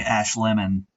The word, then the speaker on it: Ash Lemon: Well, my legal name is Ashleman. It's a long, gangly German name that no one quite ever pronounced correctly, so I decided to go phonetically, chop it in half, and say Ash Lemon, and that seems to have worked out much better.